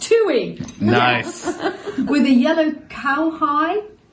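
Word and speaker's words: tūī: You have a tui, pronounced tui, Nice.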